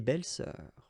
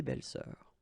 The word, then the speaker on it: belles-sœurs: Same rule here, S and S, but you don't pronounce it. Une belle-sœur, des belles-sœurs, okay? Une belle-sœur, des belles-sœurs.